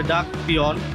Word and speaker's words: Duck Peon: Very easy to say, Duck Peon. So 3 syllables only.